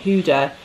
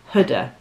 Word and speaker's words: Huda: how to pronounce this it's not Huda it's someone said it's like a hood on your jumper Hooda great way to remember it uh this is